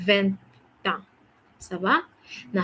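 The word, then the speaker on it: vingt ans: Tu vas dire, you say, j'ai 20 ans. Okay, there's a liaison sound because the consonant T is meeting, okay, the vowel A. So there'll be a liaison sound, 20 ans.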